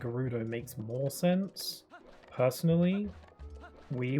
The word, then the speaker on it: Gerudo: people pronounce it as Gerudo with a with a J sound, even though it's spelled with a G.